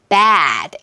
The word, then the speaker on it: bad: bad, 애플 사운드라고 하는 거고요.